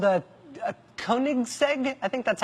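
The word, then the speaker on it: Koenigsegg: world, including some Swedish thing called a a Koigseg. I think that's how you say it. K O E N I G S E G. Koigseg.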